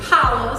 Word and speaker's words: challah: It looks like challah, but it's pronounced challah. So holla back at your girl, that type of thing. I love challah just because if I'm